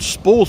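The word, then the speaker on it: spaw: So the first spore house, and they were called spores before they were called spas. It's spelled S-P-A-W, spore house.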